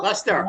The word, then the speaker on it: Leicester: Leicester, did I say it right, Phil? Lester. Lester. Luster, I'm Lester.